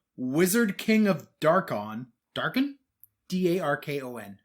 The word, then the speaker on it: Darkon: D-A-R-K-O-N. How would you pronounce that?